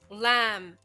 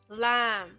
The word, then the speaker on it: lamb: end of the word so we write it but we don't say it lamb lamb c c thumb thumb